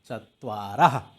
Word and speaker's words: चत्वारः: बट इनकी जो उच्चारण है, प्रोनंसिएशन है, वो ह होती है, चत्वारः।